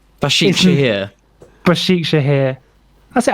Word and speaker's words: Başakşehir: We're in what would now be called modern day Istanbul, in a place that I can't pronounce called Başakşehir. Başakşehir. Başakşehir.